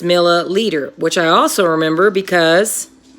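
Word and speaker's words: milliliter: what's unique about that it rhymes right meter and leader rhyme so it's easy to know I'm looking at a metric unit cause it either says meter or it rhymes with meter and says leader so it's not millimeter it's milla leader which I also remember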